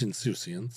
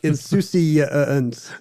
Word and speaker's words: insouciance: I'm going to start saying insouciance. Insouciance. To get the extra syllable that everyone loves.